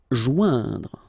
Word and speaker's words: joindre: Joindre. Okay, remember O-I-N together. Ouin, okay.